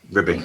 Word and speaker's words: RBI: Ribby, yeah. That's how they pronounce it. Ribby. RBI, that's the one.